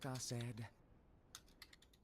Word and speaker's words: Aced: Best of luck, Aced. That's how I pronounce my name.